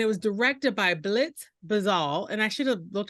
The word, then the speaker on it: Bazawule: Marcus gley and it was directed by Blitz bazal and I should have looked up the pronunciation of his name it's B- a z- a u l e bazal and it was produced by Stephen Spielberg Oprah